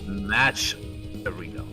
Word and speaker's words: Matcherino: There's a T in the M-A-T-C-H. M-A-T-C-H. Ah, it's match arena.